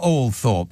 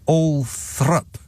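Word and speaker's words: Althorp: Princess D is buried all Thorp no not all Thorp a l t h o r p all Thorp right wrong not all Thorp all th why what sense does that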